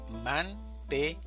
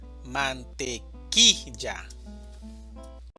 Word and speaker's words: mantequilla: La división silábica es de 4 sílabas, mantequilla, y la mayor fuerza de voz está en la sílaba ki, mantequilla.